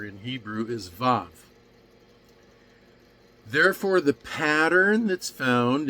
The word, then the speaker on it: vav: in Germanic languages and in Hebrew it's pronounced more like a V and the name of the letter in Hebrew is VAV therefore the pattern that's